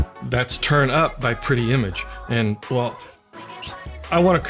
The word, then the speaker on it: Pretti Emage: by two sisters originating from clearwater florida called pretty image and that's spelled p-r-e-t-t-i second word e-m-a-g-e this is turn